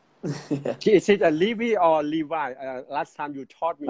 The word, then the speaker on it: Levi: Levi, like the pants.